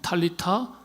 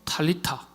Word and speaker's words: 탈리타: 아주 중요한 단어라고 말씀을 드렸는데 정확한 아이 헬라어 히브리식 아라 표현으로 발음을 하면 탈리타입니다. 그렇게 한글에 번역하면 좋겠는데 달리다 굶으로 했어요. 정확한 발음 탈리타 탈리타 탈리타는 지가하면 소녀야 했지만은 사실은요.